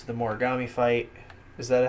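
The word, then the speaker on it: Mogami: One Punch Man, it's the Boros fight and the Genos fight, and Mob Psycho 100, it's the Morigami fight.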